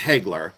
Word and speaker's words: Hegler: but uh the and it's Hegler by the way because people are saying you're saying it wrong. No, it's Hegler. That's exactly what it is.